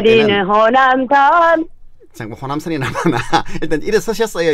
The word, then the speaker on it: 호남선: 그래 노래를 할 때는 호남선. 잠깐 호남선이 남았나? 일단 일어서셨어요, 이제? 네. 오케이. 좋았어. 좋아요. 그러면은 네. 뭐냐면은 네. 남자를 애기 발음 그러니까 뭐냐면은 애교 발음을 하면 안 된다는 거죠.